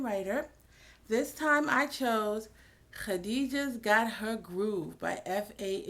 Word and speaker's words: Khadijah: This time I chose Khadijah's Got Her Groove by F.A. Ibrahim. Notice I said Khadijah, not Khadijah. I said Khadijah, the proper Arabic pronunciation.